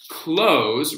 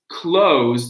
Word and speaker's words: close: So the z is a verb. The z is a verb. The s is the adjective.